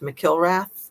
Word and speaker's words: McIlrath: married to, Timothy Scott McIlrath, I think is how you say it, which is funny because it's like kill and wrath, McIlrath, but I'm pretty sure that's how you're supposed to say it.